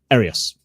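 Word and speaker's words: Arrius: Asias, right? I think his name is Asias. Is that how you say his name? Arius. Arius. Okay. Quintus Arius. That's how they say his whole name, Quintus Arius.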